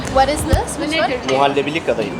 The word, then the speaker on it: Muhallebili kadayıf: Muhallebili kadayıf. Muhallebelir kadayıf.